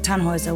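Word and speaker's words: Tannhäuser: Tannhauser. We'd pronounce it Tannhauser with an umlaut.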